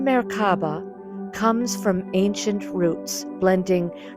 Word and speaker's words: Merkabah: The Merkaba Meaning: Light, Spirit, and Body United The term Merkabah (also spelled Merkaba, pronounced Mair-káh-bah) comes from ancient roots, blending Kabbalistic and ancient Egyptian wisdom.